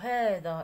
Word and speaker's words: هذا: اذا هذا حنا كنقولوا هذا، اذا كاين واحد الالف كننطقوا واحد الالف هذا، ولكن راه محذوفه رسما، اذا ما كنكتبوهاش.